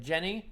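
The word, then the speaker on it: Djené: And then we have Jenny. I think the D is silent, like in Django.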